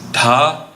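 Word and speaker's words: dha: And if you hear a little breathiness, there's that aspirant syllable that we have from Sanskrit-based languages. So in English, we usually write D-H-A, D-H-I-N for da and din.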